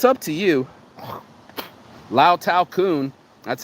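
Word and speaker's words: แล้วแต่คุณ: Lao Tao Kun.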